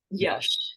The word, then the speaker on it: Yash: Is it pronounced Yash? Yash. Yeah.